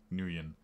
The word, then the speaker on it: Nguyen: Spectre said that the same name is pronounced 3 or 4 different ways by people who have that name, so you're screwed. And I saw Jaded Cynic say that he's met people with that name and they pronounce it Nguyen.